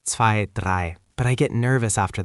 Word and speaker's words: drei: Again, I like I, drei.